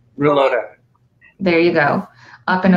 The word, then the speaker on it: Rulloda: well as Phil, I know I'm going to mispronounce his name. How do you say his last name? Reloda.